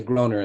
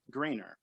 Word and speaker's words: Groener: I thought it because it was spelled like Matt Groening, that it would be pronounced Grainer.